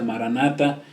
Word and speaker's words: maranatha: especial en la biblia que esa palabra se pronuncia maranatha y que significa que cristo viene pronto el